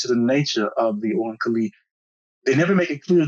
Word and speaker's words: Oankali: pronouncing it correctly, the Oankali. It's spelled O-A-N as in Nancy, K-A-L-I, Oankali, or Mhm. Oankali, whichever you pronounce it.